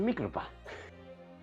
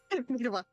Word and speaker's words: Mikotoba: Ah, you're Professor Mikotopa. Mikotopa. Mikotoba.